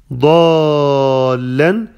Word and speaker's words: ضالا: ووجدك ضالا، ضالا is mad six حركات، the mad full by شدة، you have to make six حركات، it's called مد لازم، مد لازم. ووجدك، ووجدك، all of the letters have فتحة. ووجدك، ووجدك ضالا فهدى، فهدى، ضالا، make the ضاد heavy.